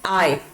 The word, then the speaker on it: I: अब हमें इसे आए नहीं बोलना है, आई नहीं बोलना है, आई, आ एंड ए। कैसे प्रोनाउंस करेंगे? आई, आ ए, आई। ओके, इसकी प्रोनाउंसिएशन होगी आई से, आई नहीं बोलेंगे। कुछ लोग आई बोलते हैं, आई जो है वो गलत है। इट इज always pronounced as आई।